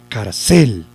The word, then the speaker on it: cárcel: en cel yo diría cárcel cierto cárcel vámonos a la cárcel cierto que no entonces lo lleva en car y aquí es donde